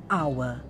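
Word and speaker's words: hour: take the word h-o-u-r in america the americans will pronounce this word as our but when it comes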